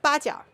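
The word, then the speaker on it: 八角: Starinise is the it's called baja because it's eight angles. That's what it means in Chinese. Baja is eight angles or eight horns.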